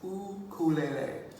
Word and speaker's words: ukulele: Well, the proper pronunciation in Hawaii is actually ukulele.